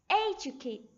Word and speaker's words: educate: and educ educational words three syllables stress runs through the first syllable educate educate okay we should